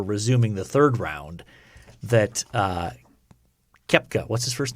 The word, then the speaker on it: Koepka: Koepka. I know. The O is silent for some reason.